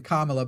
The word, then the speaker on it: Kamala: As you were saying, Kamala, by the way, is how you say it's not just that.